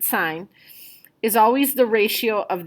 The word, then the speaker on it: sine: cosine and tangent so sine which looks like sin but we pronounce it sine is always the ratio